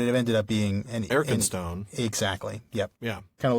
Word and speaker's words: Arkenstone: So basically what Rateliff is saying there is the fact that Tolkien represented the first syllable of Arkenstone as ARK instead of EARK means that it was spelled EARC in Old English.